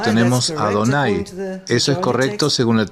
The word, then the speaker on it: YHWH: escribieron Adonai como y así que esto nos muestra nuevamente que ellos pronunciaron y W y Adonai de la misma manera así que hemos visto claramente que el escriba del Gran rollo de Isaías pronunció el nombre como adonay y al lado de